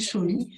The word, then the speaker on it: Comis: Donc si je dis Chaumis, Comis, c'est ça? ça s'écrit Comis, mais ça se dit Chaumis.